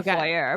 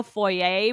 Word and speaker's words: foyer: but yes I know foyer but I don't yeah it's it's weird right because yeah it doesn't it doesn't follow American English pronunciation rules if you say fo right it sounds it sounds French and maybe it is